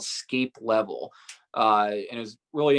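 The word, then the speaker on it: Sceilp: it was actually called scape level uh it was really interesting area that was uh spelled s-c-e-i-l-p um the reason why it's pronounced differently is because it's an irish word that that's a very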